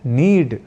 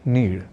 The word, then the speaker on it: नीड: संस्कृत पर ही प्रहार तो अब नीड शब्द का प्रयोग सर्वथा शुद्ध रूप में करना हो तो हमें कहना और लिखना है नीड ना कि नीड अब जान लेते हैं